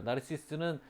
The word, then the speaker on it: 나르시스: 나르키소스는 그리스식 발음이고요. 우리가 나르시스라고 많이 알고 있죠. 나르시스는 프랑스식으로 읽은 거예요.